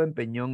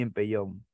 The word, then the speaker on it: empellón: Igual ya hemos visto esta palabra, peñisco, pellizco, empeñón y empellón.